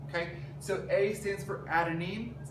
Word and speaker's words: adenine: So A stands for adenine, that's how you say it.